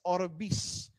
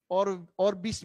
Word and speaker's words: OrbiX: It's X, pero we pronounce it as S, Orvis. Orbis Victus International.